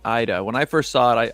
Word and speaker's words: Ida: can imagine people saying ida when i first saw it i i thought it was ida as well yeah because in italian i is pronounced as e that's why i know